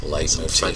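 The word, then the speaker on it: leitmotif: Motif, is that how you say it? L-E-I-T. Light motif. Some French shit.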